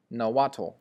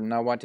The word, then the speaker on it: Nahuatl: Well, I'll tell you what it isn't, and it's not Nahuatl. Okay, this L right here is silent.